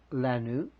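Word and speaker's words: לנו: Lanu, it's kind of like a French Chinese word. La nu.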